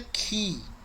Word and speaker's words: chi: Esse aí que tá chi, a pronúncia dele é ki.